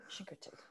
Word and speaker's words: Chincoteague: Chincoteague.